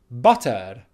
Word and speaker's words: butter: R's might say butter buttered but it's neither of those two you certainly don't pronounce the R at the end the correct pronunciation is